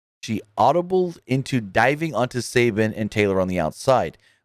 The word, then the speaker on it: Sabian: at sabian's request her is it Sabian or Sabin cu the way it's spelled is Sabian but I believe it's just Sabin Kip Sabin anyways um H